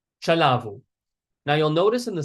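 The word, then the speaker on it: ચલાવવું: So in chalavu there are some verbs in gati that have a double v but you don't actually pronounce the double v. So we still pronounce it like chalavu.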